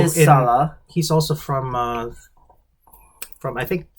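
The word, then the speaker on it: Sallah: Right, that's how you say Sala. Sala.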